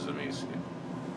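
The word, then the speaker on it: Tzimisce: But I have heard the pronunciation of this, and it is Zemisi. Because it was a video game, and they pronounced it that way in the video game.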